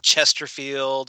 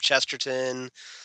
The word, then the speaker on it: Chesterton: The Doctor deliberately will mispronounce Ian's name, like he calls him Chesterfield instead of Chesterton, stuff like that.